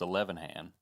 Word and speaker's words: Ilhan: And by the way, it is not pronounced Ilhan. I learned this today. It's elevan.